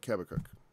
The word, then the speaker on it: Habakkuk: And ends with, to the chief singer on my stringed instruments, and begins with a prayer of Habakkuk, or Habakkuk, depending on which way you're going to pronounce it.